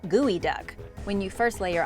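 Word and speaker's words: geoduck: has to be good it's spelled like geo duck but it's pronounced gooey duck when you first lay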